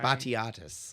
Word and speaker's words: Batiatus: He's uh and I wish you were the person looking at this cuz the Greek pronounce it. Betus B A T I Batiatus.